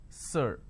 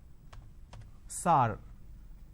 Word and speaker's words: sir: changes of this word majority of the people pronounce the word sir as sar sar can you please answer my question so instead of saying sir they say sar so this is a pronunciation mistake now how do we identify it's a pronunciation mistake instead of a vowel sound er they end up using a vowel sound r another example the word